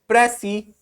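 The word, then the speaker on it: précis: where does the word pressy comes from notice that the S is silent and usually pressy is written with an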